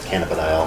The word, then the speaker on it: cannabidiol: is short for cannabidiol there's some different pronunciations out there orphans cannabidiol seems to be the preferred so you'd have in